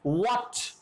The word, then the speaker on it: what: Similarly, you can pronounce that what. Again, H is silent.